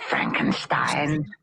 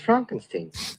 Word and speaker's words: Frankenstein: Frankenstein. You're putting me on. No, it's pronounced Frankenstein.